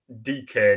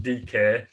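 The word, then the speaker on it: Dike: mls he's come from orlando city um you spell it it's called dk now you spell his last name d-i-k-e so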